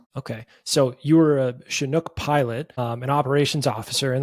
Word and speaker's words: Chinook: I want to talk about your time is it pronounced Chinook? Am I saying that correctly? Like SH, but it's CH.